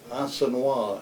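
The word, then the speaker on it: Assenois: a small village called asena ass n o i s that's the French pronunciation and uh we went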